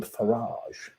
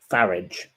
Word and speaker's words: Farage: most people call him Farage. And she pointed out that his father was a car dealer and his name was Farage, as in garage.